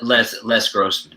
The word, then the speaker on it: Les Grossman: Les Grossman, yeah. Yes, Les Grossman. I think that's the avenue you want to go. And everyone has been wanting like a Les Grossman movie.